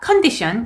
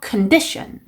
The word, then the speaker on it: condition: 그러니까 condition 이게 아니고 condition, condition 이렇게 강세까지 연습하셔야 되는 자주 나오는 단어입니다.